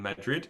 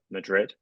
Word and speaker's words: Madrid: find it so strange oh maybe I say mad M Madrid yeah I I don't say it in Spanish yeah maybe I say Madrid M Madrid Madrid yeah no I don't put the accent on the beginning yeah you do keep